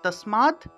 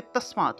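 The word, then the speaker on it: তস্মাৎ: দ টা চলে আসলো আরেকটা নিয়ম আছে যে হসন্ত যুক্ত দকে তত হিসেবে উচ্চারণ করা হয়ে থাকে ঠিক আছে তাহলে তাসমাত উচ্চারণটা হবে তাসমাত এই যে এইখানে আমি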